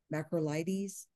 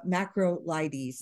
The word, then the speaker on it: macrolides: patient is allergic to bactrim and macro life macrolytes did I say that right right nitrofurantoin or macrobed or Minocycline well first bactrim I can pronounce that one uh macrolides is the second uh macrolide um yeah yep